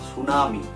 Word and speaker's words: tsunami: ইংরেজিতে এটা সিম্পলিফাই করে ঠিটাকে সাইলেন্ট রেখে উচ্চারণ করা হয় সুনামি।